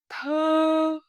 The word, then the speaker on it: thư: When you say word with flatten your lips and feel the sound come from deeper inside your mouth. Let's do a few pairs together. Thu, thư, su, sư, mu, mơ, cu, cư.